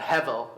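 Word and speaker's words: הבל: But hevel is how you'd pronounce it.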